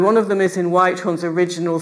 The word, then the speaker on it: Whythorne: That's Thomas Whitehorn. And it's spelt different ways, but usually it's spelt W-H-Y-T-H-O-R-N-E, Thomas Whitehorn.